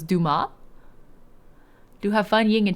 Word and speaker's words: Dumas: so this is new the S is silent so it's Duma do have fun Ying in chat 5:00 a.m.